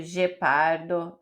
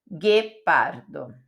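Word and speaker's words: ghepardo: não é Dio já vi gente lendo Dio gepardo nãoo guepardo certo agora vou te ensinar a pronúncia da letra S A letra S no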